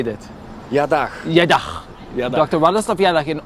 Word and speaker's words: Jadach: Jadach.